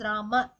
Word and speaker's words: Rama: As per Sanskrit, the right pronunciation is Rama. It's not Rama, no Akaram. At the same time, no Ram. It's not half. So Rama is the correct pronunciation.